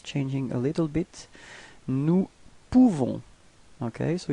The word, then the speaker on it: nous pouvons: Nous pouvons. Okay, so you write this OU and you pronounce it OU. Okay, so if you combine it, you nous pouvons. Okay, you don't pronounce the final S.